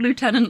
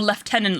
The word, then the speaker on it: lieutenant: had a character called Lieutenant lady Garden excellent or left tenant lady Garden I suppose depending on um who you are where you are and how you decide to pronounce it Lord torid ne's excellent